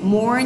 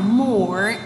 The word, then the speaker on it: more: More nhá. Nhớ cong lưỡi lên nào. More. Tròn miệng lại, nâng lưỡi ở trong.